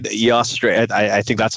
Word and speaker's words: Eostre: Eostre. I think that's how you pronounce it.